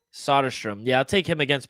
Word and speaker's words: Soderstrom: How do you pronounce his last name? Soderstrom? Soderstrom.